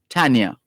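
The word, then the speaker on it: Thania: tell us and so this tanya is spelled t-h-a-n-i-a but the h is silent t-h-a-n-i-a tania right so she says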